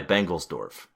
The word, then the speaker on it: Bengelsdorf: But she does later meet I'm not even going to try and pronounce it. Oh, it's Rabbi Bengelsdorf.